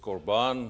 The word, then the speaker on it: Korban: It can also be spelled with a C. But the Hebrew word is Korban, and in singular, and it's korbanot when it's more than one, and it's plural.